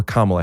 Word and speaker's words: Kamala: And that's what I'm talking about with Kamala Harris, or Kamala Harris if you're not racist. You said it wrong at first.